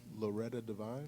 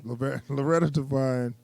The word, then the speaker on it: Loretta Devine: Loretta Devine. Loretta Devine.